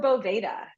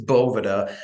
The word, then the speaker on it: Boveda: a lot it uh everybody pronounces both differently so it is Bova um but depending on what part of the country you're in it can be bov boa Bas um and actually um